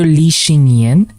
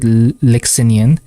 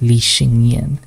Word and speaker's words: Li Xinyan: Or Li Xinyan. I used to pronounce it Lixinian, but thankfully he does have a YouTube channel, and I think he introduced himself as Li Xinyan, which is sad.